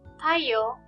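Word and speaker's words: たいよう: Notice that Y-O-U, yo, is pronounced like yo, not you. When the O sound is next to the U sound, it is pronounced like O, the long O sound, yo.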